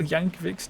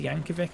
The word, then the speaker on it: Yankovic: Weird Al Yanovic's 12 minutes on. I almost said Yanovic then. And I I remembered that that's not how you pronounce it. It's Yankovic, isn't it?